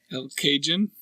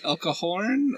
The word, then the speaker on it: El Cajon: El Cajun? I think I want to say that it's a soft J. The L in the beginning.